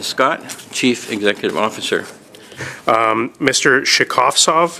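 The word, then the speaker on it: Shekhovtsov: Shekhvtsov, is that correct pronunciation, sir? Shekhvtsov. Shekhvtsov, apologies. Correct.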